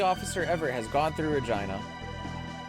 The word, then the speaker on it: Regina: ever has gone through Regina the city that rhymes with fun all right conveyor skip